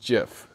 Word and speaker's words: GIF: It's spelled GIF, but it's pronounced GIF, as in the Jif peanut butter brand.